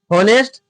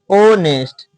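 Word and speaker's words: honest: होनेस्ट H silent है। H silent मतलब उसको हम लोग नहीं पढ़ेंगे, यहां से पढ़ेंगे ओनेस्ट।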